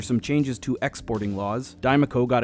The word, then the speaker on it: Diemaco: Diemaco.